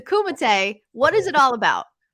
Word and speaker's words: Kumite: I've heard so many people pronounce it wrong. A lot of people being like, "Oh, the Kumite is on tonight." But let's set the record straight. It's the Kumite.